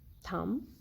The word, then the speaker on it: thumb: The letter B is usually not pronounced when it is in the end of the word and letter M precedes it, like comb, bomb, thumb, climb, lamb. In all these words, letter B is not pronounced.